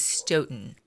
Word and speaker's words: Stoughton: I we had a debate about how to pronounce this town and I ended up calling the local library and the recorded message told me everything I needed to know. It is Stoen.